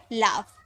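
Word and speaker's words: laugh: किए कफ हो गया एल य जी एच तो जी एच लास्ट में है तो इसे फॉर्म में प्रोनाउंस किए तो हो गया लाफ टी ओ यू जी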